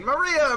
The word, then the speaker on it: Maria: Her name is written Of course, is pronounced Maria.